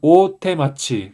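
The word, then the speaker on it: 大手町: 서울경 톡 쿄 번은 오테마치 있니다 어 어 요미 카타는 오테마치 좀 장음으로 기게 해 줘야 됩니다 그래서 한자는 큰대 손수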